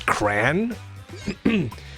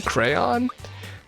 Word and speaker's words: crayon: One syllable rhymes with man, in other words, cran. Two syllables rhymes with crayon, crayon. Two syllables rhymes with dawn, crayon, crayon.